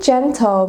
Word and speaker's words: gentle: So again, that is with a J sound, however, it is spelled with a G.